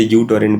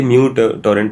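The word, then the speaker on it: µTorrent: अगर हम म्यूटोरेंट की बात करें बचपन में हम उसे यूटोरेंट बोलते थे। तो वो एक्चुअली म्यूटोरेंट प्रोनाउंस होता है।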